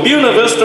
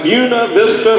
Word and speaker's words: Buena Vista: annual bluegrass festival in Buena Vista Virginia yes ladies and gentlemen that's how we pronounce the name of that little town Buena Vista Virginia it's right there